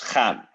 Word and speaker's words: gaan: So it's gaan, to go. And you pronounce the very, very hard from your throat. You can drive home like G, gaan.